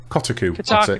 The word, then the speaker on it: Kotaku: Kotaku.